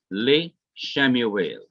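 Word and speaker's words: לִשְׁמוּאֵל: The simple schwa is lengthened to the short hirik when it is put onto Shemuel, and it is written as li Shemuel. The second simple schwa is to be pronounced li Shemuel.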